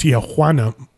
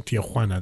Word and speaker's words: Tijuana: pronouncing it that way all last episode, it's pronounced Tijuana. God, you're so white, Mom. It's a funny that's line, awesome. But that's also why I kept pronouncing Tijuana that Mom's way.